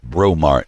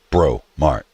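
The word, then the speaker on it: Breaux Mart: of them I mean we got bromart and it's spelled b-e-b-r-e-a-u-x bro mark because that's because that's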